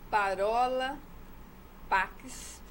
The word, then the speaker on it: Parola Pax: entrar no sair é www parola pax esse parou é como se fala e o paquistão é com x no final carola de palavra